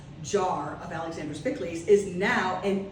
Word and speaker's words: Pikliz: c k l e s that's how you pronounce it pickley but um I just thought people were getting